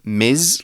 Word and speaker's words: Ms: It's pronounced Ms, like a M-Z-Z almost. And we use Ms when a woman is introducing herself or we're talking about a woman.